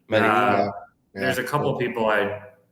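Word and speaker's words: Medellín: Medellin. Medellin.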